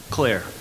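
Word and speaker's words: Clerc: Claire, old French name. Claire. Okay, that's out of C-L-E-R-C, Claire.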